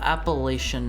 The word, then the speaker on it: Appalachia: Appalachia if you pronounce it phonetically. Appalachia. Southerners say Appalachia like right back at you. Appalachia. It's it's it's Appalachian, right? No. like latch.